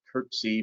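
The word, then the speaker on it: curtesy: actually had uh and i'm not even sure if you could pronounce it courtesy or courtesy i think it's actually curtsy but it was never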